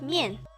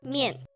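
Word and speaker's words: 面: Did you have mian? So when you see this, you just think that it is a bowl of noodles that you are picking up, and it pronounced as mian.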